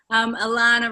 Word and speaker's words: Alana: Alana rhymes with banana.